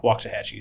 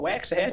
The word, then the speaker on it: Waxahachie: And I live in Red Oak, but right there, right by Waxahachie.